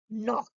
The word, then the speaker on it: knock: Now, common silent letters. K. What do you think of K? Teachers, you all should know this before you teach the children, like knife, no, knee, knock, knock, who's there?